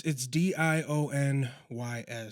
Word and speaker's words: Dionys: Yeah, so it's Dionys, but it reads like you're saying Dionys. Dionys. Like if you're saying let's be honest, yep. It's Dionys.